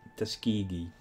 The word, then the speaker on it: Tuskegee: Um I think this is at least Tuskig Tuskegee. I know now that it's pronounced that way.